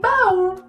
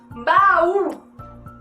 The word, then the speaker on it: baú: E baú, baú. O U fica tão forte, fica bem diferente de um U sem o acento agudo.